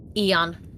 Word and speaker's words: Aeon: Eon.